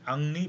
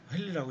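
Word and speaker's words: Henri: 이번에 소개시켜 드릴 사람은 앙리 베크렐입니다. 헨리라고 읽으면 안 됩니다. 이제 프랑스 사람이니까 앙리 베크렐.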